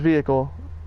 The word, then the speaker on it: vehicle: Yeah, it's vehicle. Well, we say V, like we stretch out the E part, and then hickle, like just hi and cool.